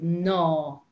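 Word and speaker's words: ná: don't do it and that little word is no no if you write that down it's n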